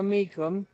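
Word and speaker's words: Mecham: in the score book there is a mikum. My mother was a mikum, but they spell it differently. Um, m- e c h a m is kind of what you see more uh today.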